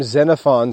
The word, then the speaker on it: Xenophon: household management that's xenophon's household management the name xenophon starts with an x x e n o p h o n and it's pronounced xenophon xenophon was a friend of socrates